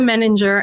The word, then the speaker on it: Meninger: somebody starts talking to you about you kim meninger and kim am i pronouncing your last name right i didn't even